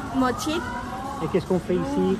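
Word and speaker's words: Mo Chit: Mochit, hein, faut bien prononcer le mot, hein, parce que Mochit, pas juste cheat, hein, Mochit.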